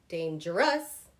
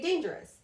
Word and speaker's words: dangerous: I don't say dangerous, okay? I say dangerous.